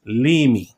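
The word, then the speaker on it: Leamy: I finally got her surname correct it is pronounced Lei okay so Grayson Lei was born in St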